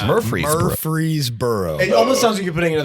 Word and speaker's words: Murfreesboro: city or laser boro boro is it Murphy Murphy you are fr EE Bo AR Murfreesboro syllable in the middle that's right okay and